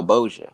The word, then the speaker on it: Bossier: How do you pronounce it? Bosnia City. Oh, Bossier.